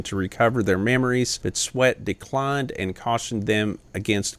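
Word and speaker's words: Swett: he did hypnotherapy now that was a captain sweat and it's spelled s-w-e-t-t captain swept had given a couple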